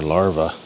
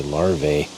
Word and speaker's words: larvae: as a plural for larvae pronunciation is actually larv it's an AE at the end and it's not the a that makes the sound it's the E lar I always say larve yeah there's some milk